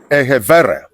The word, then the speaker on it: Egharevba: A Short History of Benin, written by Julius Ehevere. Ehevere is spelled Egharevba.